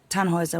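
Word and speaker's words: Tannhäuser: Tannhauser. We'd pronounce it Tannhauser with an umlaut.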